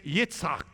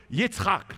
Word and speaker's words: Yitzhak: sense his name is Yitzhak that's how you say it in Hebrew Yitzhak try it it's not an easy one Yitzhak and from that we